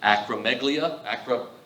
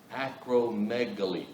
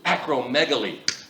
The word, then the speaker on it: acromegaly: But he has, I have to look at it every time, acromegalia. Acromegaly. Acromegaly. Jenny was too nice to tell me I was saying it wrong that first time.